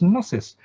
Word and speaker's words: gnosis: called gnosis gnosis gnosis you must have wonder why is the g then and it is silent g n but you pronounce this gnosis it's because this comes